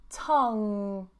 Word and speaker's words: tongue: Tongue, tongue. So although here, again, although we have these two vowels at the end, we don't pronounce any of them, okay? Tongue. We hold it here.